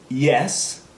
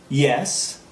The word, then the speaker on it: yes: and that is the that is the Y sound okay so if you